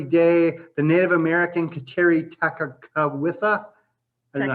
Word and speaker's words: Tekakwitha: Dorothy Day, the Native American Kateri Tekakwitha. I don't know how. That K shouldn't be there. I don't know how you say it. It's Tekakwitha.